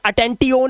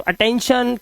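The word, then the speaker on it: attention: तो ये अटेंटीओन नहीं करना है। टी नहीं आएगा यहां पे। ट आ जाएगा और ये शन बन जाता है। तो अटेंशन, क्रिएशन, मेंशन, टेंशन और टेंशन।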